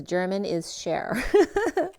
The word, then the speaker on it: Germanischer: It's literally spelled German and then ISCHER. That's so funny because it literally says German is share.